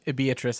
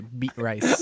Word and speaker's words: Beatrice: Actually, Every time I see the name Beatrice, I just look at it, I say, beet rice. beat rice. I don't know why we pronounce it Beatrice.